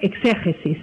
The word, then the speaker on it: exégesis: Hacer una exegesis, quizá yo lo pronuncio mal en castellano, porque en catalán es exegesi, pero en castellano creo que se pronuncia exégesis, ¿no?